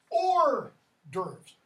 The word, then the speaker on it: hors d'oeuvres: words begin with none that's why we have hors d'oeuvres not d'oeuvres okay you don't pronounce this EGR humor it's okay so all those H's drop off here it's a fossil